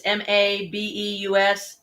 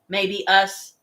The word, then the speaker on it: Mabeus: It's Mabeus. Maybe us. That's what it sounds like.